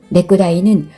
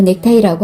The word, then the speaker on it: 넥타이: 넥구다이는 외놈들 발음이니 이제부터 넥타이라고 하죠.